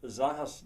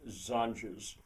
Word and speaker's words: zanjas: Zahas uh zahas the infilition would be the Spanish but I pronounce it as if it were English zanes.